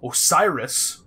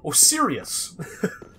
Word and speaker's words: Osiris: Play there, where I kept calling Osiris, which is the proper way to say it, Osirius. No idea why, that was just the way I read it, but Ariandel, or whatever the fuck he called it.